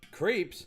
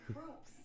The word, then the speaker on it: Krups: Is it Krups? Is that how you say it? Yeah. Creeps. No, groups.